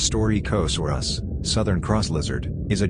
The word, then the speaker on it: Staurikosaurus: stork asaurus stark asaurus pronounced story coast or us southern cross lizard is